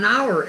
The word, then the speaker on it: hour: Hour é hora, o H também é mudo. Normalmente as palavras que vêm do francês têm esse H mudo, mas nem todas, porque nós temos, por